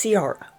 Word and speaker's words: Ciara: It's not Kira, it's Ciara.